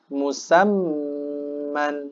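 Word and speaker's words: مسمى: Musamman. Nah, tetap ditahan. Musamman.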